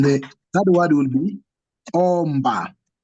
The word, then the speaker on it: omba: so us is so imba, enda, then the third word will be omba. Omba. It's O, not U.